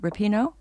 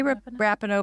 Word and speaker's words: Rapinoe: quoting Megan Rapp Rapinoe how do you say it Rapinoe I think it's a wrap Rapinoe I say rapido but I heard someone introduced her as Rapinoe so it's not rapini that we know that's